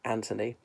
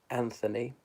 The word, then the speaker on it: Anthony: We pronounce it Anthony. I know in the United States it's Anthony. There we go.